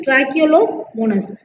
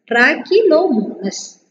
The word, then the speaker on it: Trichomonas: Okay, how to pronounce this? Trichomonas, T R A, tra, C H E, K L O, lo, M O, mo, N A S, nas. Trichomonas. Okay, Trichomonas.